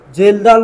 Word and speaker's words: Kjeldahl: next method है एस्टीिमेशन of nitrogen के लिए जेल डाल मेथड जेल डाल जेल डाल मेथड ठीक है के साइलेंट होगा जेल डाल मेथड साइंटिस्ट